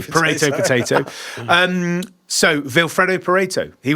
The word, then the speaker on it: Pareto: I ask myself this question sometimes because it's pronounced Pareto, right?